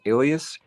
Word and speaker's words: Aelius: The word Aelia, it's A-E-L-I-A, is derived from the emperor's family name, Aelius. And if this is pronounced this way, Capitolina refers to the cult of the Capitoline triad, Jupiter, Juno, and Minerva.